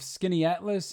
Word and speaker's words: Skaneateles: Question 34, in the town of Skaneateles, and I promise that is how you pronounce it, New York, house prices since 2008